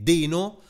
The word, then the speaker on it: Deno: alternativo a node e deno Odino Odino Perché in effetti è il logo è un dinosauro Quindi si dovrebbe pronunciare Dino ma anche è anche